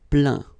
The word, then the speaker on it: plaint: Plaindre, plaint. Okay, and as usual, final T here is not pronounced, so you get craint, contraint, plaint.